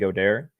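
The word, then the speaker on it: Goedert: of both Kelsey and godare I call them go there because it's French uh but uh I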